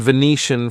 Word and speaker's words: Venetian: all referring to places so Egyptian Martian that's from the planet Mars and Venetian from Venice in Italy so and from Egypt of course so Egyptian Mar Venetian okay so all these different spellings but they all result in shun at the end okay then we have